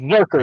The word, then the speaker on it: Zurcher: It's It's Zurker. It looks like it's pronounced Zurker with a hard hard K.